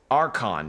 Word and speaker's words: Archon: Archon, that's how you pronounce it.